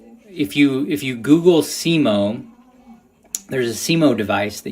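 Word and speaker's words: Semo: Simo is S E M O. It's all one word, but yes, that's how you pronounce it.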